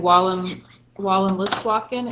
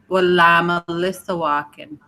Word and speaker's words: Wallamaliswakin: And then same thing with, I was saying Wallam Listwakin, and is it an extra syllable like Wallamaliswakin? Yeah. Wallamaliswakin.